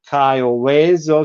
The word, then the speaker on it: Cayo Hueso: The Spanish pronunciation of Cayo Vezo sounded a lot like Key West, which made sense to